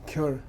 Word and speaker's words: gyur: Cure. If you pronounce perfectly, cure.